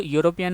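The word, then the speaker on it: European: अब यहाँ पर जो यूरोपियन है, भले ही इसकी शुरुआत स्वर से हो रही है लेकिन जब हम इसका उच्चारण कर रहे हैं तो इसका उच्चारण व्यंजन से हो रहा है।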